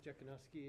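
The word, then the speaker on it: Jekanoski: Last name is Jakoski. It's spelled J E K A N O S K I.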